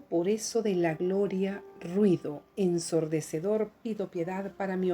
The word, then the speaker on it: ruido: Y decimos en este poema, en este verso: y cansado por eso de la gloria, ruido ensordecedor, pido piedad para mi oído.